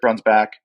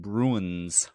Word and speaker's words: Breunsbach: I know how our last name should be pronounced, even though it's been said for generations. So I'm pretty sure it's Breunsbach.